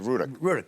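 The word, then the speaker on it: Rudock: Yeah, Ruddock.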